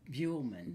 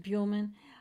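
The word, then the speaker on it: Buhlman: Now, William I don't know what I couldn't say his name, Bullman. I think it's And I actually had- Buellman. Buellman.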